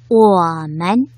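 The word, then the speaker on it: 我们: 이렇게 특별한 성조가 없이 표기되는 것을 경성이라고 표현하는데요. 짧고 약하게 발음해 주시면 되겠습니다. 원어민 선생님의 발음을 잘 듣고 따라 발음해 볼까요? 我们我们 워맨.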